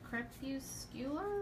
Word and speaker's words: crepuscular: Crepuscular rays? That sounds like it. I knew it kind of had that hard C in the beginning.